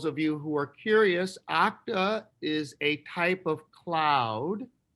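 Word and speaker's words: Okta: is interesting the name of the business is pronounced octa and for those of you who are curious octa is a type of cloud and it should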